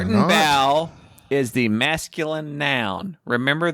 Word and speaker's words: Gartenbau: Gartenbau? Gartenbau. Spell it. Gartenbau.